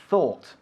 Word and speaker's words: thought: Se escribe thought, pero la GH hay que olvidarlas, ¿eh? It's thought, thought.